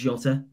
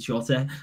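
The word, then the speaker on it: Jota: yeah jotter yeah jose it's just the sound of the letter j in portuguese is pronounced shutter so a lot of players who have the letter j in the name will just go with shorter hi hello hi you've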